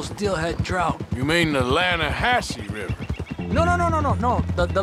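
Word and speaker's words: Lannahassee: The other day, I rode down to the Lanna-hass-e River. I caught some beautiful steelhead trout. You mean the Lanna-hass-e River? No. The Lanna-hass-e. It runs right near here. Yeah, but it's pronounced Lanna-hass-e.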